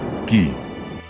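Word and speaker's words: 義: Pronounced, gi.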